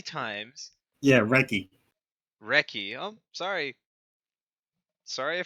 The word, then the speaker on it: Recchi: 7-time Recchi. All-Star, ranging from 91 to 2000. Yes, apparently so forgotten that his name is actually Mark Recchi. I thought you pronounced the H.